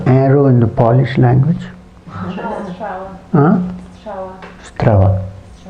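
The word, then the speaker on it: strzała: Strava. Huh? Strava. Spelled? How do you spell it? There is RZ together is Ż. So S, RZ, STR.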